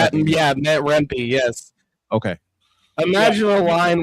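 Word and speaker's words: Rempe: Is that the correct pronunciation? If not, yeah, Matt Rempy."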